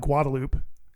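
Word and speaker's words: Guadalupe: We call it Guadaloop. Oh, yeah. Which is like not how it's pronounced right at all, but that's just how people pronounce it.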